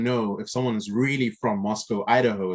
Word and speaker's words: Moscow: But actually, it's one of those things where if you really want to know if someone's really from Moscow, Idaho, it's pronounced Moscow as opposed to Moscow, So one of those very interesting distinctions.